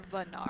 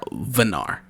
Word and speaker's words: Vinar: Sorry, of the Nar or Vanar? No, Vinar. But no, Che'ig Vinar. I'm just gonna call him Veneer. You gotta roll that R at the end.